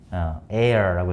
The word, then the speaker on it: heir: 이거 우리 머리에 할 때 hair 있죠? 그거랑 발음이 매우 비슷합니다. heir라고 했는데 heir 후계자 혹은 상속자.